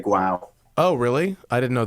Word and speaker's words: guau: a g-u-a-u it's pronounced wow but it's g-u wow wow wow is how dogs it's like bow wow in spanish and my one of